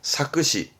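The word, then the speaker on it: 作詞: 발음은 사크시.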